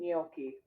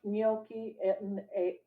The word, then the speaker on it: gnocchi: I was about to say, I think the G is silent. I know, I know. I was having a hard time saying gnocchi. Yeah. Okay. With butternut squash gnocchi on a bed of kale seasoned with truffle salt.